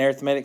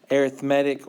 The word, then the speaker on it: arithmetic: Did you call it an arithmetic sequence? Okay, so how do you know whether to say arithmetic or arithmetic?